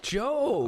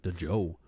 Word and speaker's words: Djo: Oh, Joe. I did not know how to say his name before. Yes. You know, I thought it was the Joe.